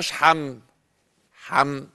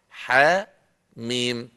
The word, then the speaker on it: حم: الحروف شبكه في بعضيها ما بننطقها حم حم لا ح ميم ايوه سبع صور هم